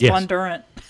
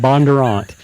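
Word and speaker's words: Bondurant: a teen driving program really how you say it I always thought was Bon Durant no it's Bob Bon Durant sorry Bob and um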